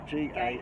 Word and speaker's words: Gael: Her name is Gail, but it's spelt really weird. Gael.